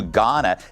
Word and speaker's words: Ghana: LA Mayor Karen Bass is demanding an investigation into her trip to Ghana. The H is silent.